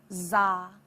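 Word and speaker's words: dza: This seed syllable is simply D-Z-A, pronounced to make za.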